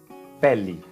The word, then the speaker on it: pele: A letra E, ao final das palavras, sem acento, ou seja, sem tilde. Acento é tilde, ok? Terá o som de I.